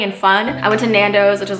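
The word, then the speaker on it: Nando's: trip with some Nando is it Nando or not it's Nando finally saying it right I've been saying it nandos and this is our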